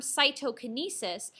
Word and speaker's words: cytokinesis: look at this term cytokinesis saito sounds like the word cytoplasm so cytokinesis is basically